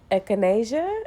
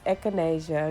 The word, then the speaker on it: echinacea: to the jug okay by the way it's pronounced echinacea i call it a chain i don't know what the hell i call it but it's echinacea okay so it's echinacea goldenseal that i added